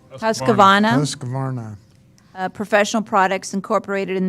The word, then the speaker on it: Husqvarna: Husqvarna. Husqvarna.